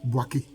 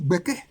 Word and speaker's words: Gbêkê: on dit ordinairement donc au lieu de dire boaké il faut dire bké il faut dire bké c'est mieux faut dire b b c'est pas difficile à prononcer BK mais on dit boaké non c'est bké on n' pas besoin